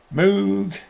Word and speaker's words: Moog: Moog, Moog, and some more Moog. Moog. Moog. Poo is spelt with two O's. P-O-O says poo, not po.